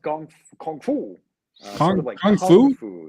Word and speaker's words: gongfu: probably the uh the gong Fu style uh so it's well uh yeah it's actually pronounced Kung Fu you know well yeah essentially the same word uh gongfu and Kung